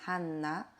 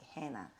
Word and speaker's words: Hannah: is Hannah uh she call me like Anna but here in Korea we pronounce like a Hana but in American way call me like Hannah so I was born